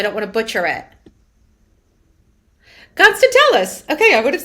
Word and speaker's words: Constantellis: Constantellis.